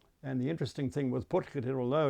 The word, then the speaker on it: Potgieter: So I've now found one to Bouwmeester, there's another one to Oosthuizen, and another one to Potgieter. And the interesting thing with Potgieter, although it's a very ornate carving, and a beautiful one in fact, they've actually spelt his name incorrectly.